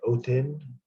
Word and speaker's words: Othin: It's like Othin. It can sound like a D, like Othin. We get Odin from that, but his name is really Othin.